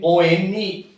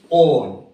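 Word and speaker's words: -one: Spelling O-N-E, on. Pronunciation is not one, on, according to the UPAC nomenclature.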